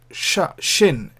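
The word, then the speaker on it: שׁ: If the dot is on the right, then we pronounce it shin, as in sharp, sh sound.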